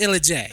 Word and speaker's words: Illa J: Yeah, It's pronounced Illa J.